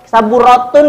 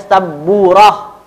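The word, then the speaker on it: سبورة: Ya, jadi jangan di saburatun ya teman-teman, jangan dibaca saburatun hakibatun enggak. Jadi bacanya saburah.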